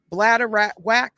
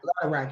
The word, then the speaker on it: bladderwrack: So this one has sea moss, bladder whack. Is that how you say it? Bladder rack, yes.